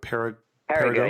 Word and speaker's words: Périgueux: name of the city that you're talking about, Périgueux, yes. It's P-E-R-I. It's spelled the French way, so there's lots of letters at the end that have nothing to do with the pronunciation.